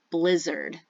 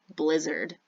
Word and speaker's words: blizzard: say this word though even though it's written with an AR we actually pronounce it blizzard it's one of those